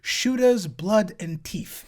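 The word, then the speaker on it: Shootas, Blood & Teeth: you fight one in shoter blood and teeth it's an orc game that's actually how it's pronounced and the following cutscene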